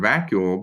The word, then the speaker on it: vacuole: And I remember vacuole because it rhymes with saccule.